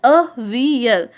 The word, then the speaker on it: avial: Okay, it is pronounced as avial. Avial.